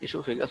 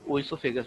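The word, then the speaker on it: oesophagus: इसमें ओ आगे रहता है लेकिन सब प्रोनाउंसिएशन एसोफेगस होता है. आप चाहें तो इसमें ओइसोफेगस भी पढ़ सकते हैं.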